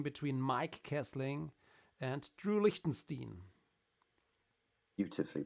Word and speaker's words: Lichtenstein: Mike kessling and Drew Liechtenstein beautifully pronounced did I pronounce it correctly I wanted to say drew Lichtenstein like you would say it in German yeah but he's not